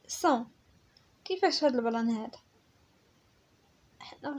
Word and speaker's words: sent: هنا عندنا S A N S كتنطق صون، هنا S A N G كتنطق صون، وهنا C E N T كتنطق صون، وهنا S E N S صون، وهنا S E N T صون.